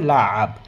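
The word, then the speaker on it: لعب: সেটা হচ্ছে যে লা আব, লা আব। আইন এখানে চলে আসতেছে, লাভ হবে না, লাভ, লাভ মানে হচ্ছে খেলা করা।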